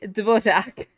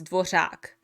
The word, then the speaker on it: Dvořák: and everyone else who was forced to say devojak in English oh sorry yeah so in case you want to know how to pronounce his name it's dwashak they are pronouncing it as dwarjak because that's the closest you can go to